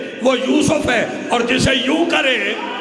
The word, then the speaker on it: یوسف: جناب یوسف کا حسن، یہ تلفظ ٹھیک ہے یوسف، جناب یوسف کا حسن ضرب المثل ہے، توجہ فرما رہے ہیں۔ اور یوسف کرتے کیا تھے؟